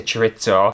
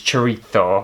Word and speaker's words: chorizo: Normally I would say chorizo but I know the Spanish pronunciation I think is chorizo, so if I sound like a bit of a knob it's because I'm trying okay!